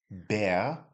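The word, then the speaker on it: Bär: So, it's bear, bear. So with no umlaut, it's just bar, but with the umlaut, it's bear.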